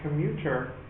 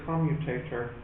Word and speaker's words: commutator: But I think a lot of people say commuter. But maybe that's wrong. Maybe people should really say commutator. 2M. 2 M's, yeah. Commutator. That's better.